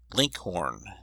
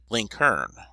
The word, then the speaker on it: Lincoln: in Virginia and Kentucky his name was commonly pronounced Linkhorn and in Indiana link Hearn the usage was so